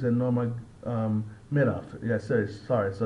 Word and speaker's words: Nurmagomedov: Actually, it's Nurmagomedov.